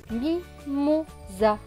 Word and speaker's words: mimosa: Mais comme le S est au milieu de deux voyelles, le O et le A, le S va se prononcer Z. Donc, Z et A, za. S et A, za. Donc, ce mot va se lire mi, mo, za. Mimosa, mimosa. Plus loin, E-T.